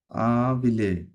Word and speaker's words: habiller: Jo, vous voudrais, হ্যাঁ, je voudrais habiller. বিয়ে double L silent হবে, আবিয়ে Habiller. আবিয়ে হ্যাঁ, করেন, এটা শেষ করেন।